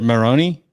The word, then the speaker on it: Maroney: in there okay that's a unique way to pronounce but i like it and so it's is it moroni yeah it's a super irish yeah okay well